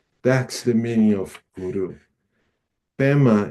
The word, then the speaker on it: Pema: Pema is the Tibetan pronunciation for Padma.